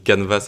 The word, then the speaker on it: canvas: Alors, on va créer notre premier canvas. Donc déjà, juste pour la prononciation, ça se dit canvas avec un S en anglais et on a quand